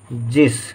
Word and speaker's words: जिस: विराम लिखेंगे, आगे लिखेंगे, जिस तरह, जिस, जी, जा के साथ ई का उच्चारण, जी, लेकिन कम देर के लिए है तो छोटी की मात्रा, जी और स, जिस, ठीक है। यदि हम गलती से जा में बड़ी की मात्रा लिख दें तो जीस पढ़ा जाएगा, जीस, जो कि गलत होगा।